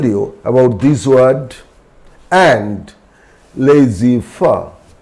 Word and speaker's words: laissez-faire: Already I told you about this word, and laissez-faire. So these two French words, in these two French words, Z is silent.